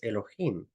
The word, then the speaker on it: Elohim: Ya la pronunciación correcta es Elohim.